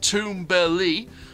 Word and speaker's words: Tumbili: for a topsy-turvy adventure tumbly pronounced tomberley uh the swally word